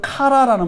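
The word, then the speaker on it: קרא: 기도 아뢰었다 아뢰었다 아뢰었다 말 히브리어로 카라라는 말어 카라 카라 발음 해 보세요 카라 한번 카라 해 보세요 카라 카라 입이 딱 벌어지죠 카라 이걸 어라고 해요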